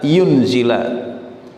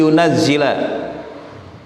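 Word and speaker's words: يُنَزِّلَ: ta'ala bisa dibaca jika bisa dibaca yunzila kalau di ayat itunya di Alqurannya di mushafnya Ani yunazila yaitu bitasdid dengan ada tasydidnya tapi bisa dijaga dibacaan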